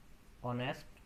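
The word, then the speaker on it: honest: Okay, an ऑनेस्ट person. ठीक है, इस तरह के जितने भी आपके वर्ड्स जहाँ पे आपका एच जो है म्यूट है या साइलेंट है, वहाँ पे हम एन का यूज करेंगे।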